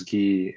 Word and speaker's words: Ge: it's like Lee but I don't think there's gee in like Mandarin Chinese wait can you pronounce it really quick yeah it's G I'm